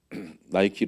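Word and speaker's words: Nike: 말씀하고 있는 것이죠 그 나이키 로고 잠깐 보여 주실래요 여기 이제 나이키가 이제제 그 그리스 여신 그 그리스 신화에 나오는 니케 여신을 이제 영어 발음으로 해서 나이키라는 이름을이 지은 건데요 그다음에이 로고가 이제 나이키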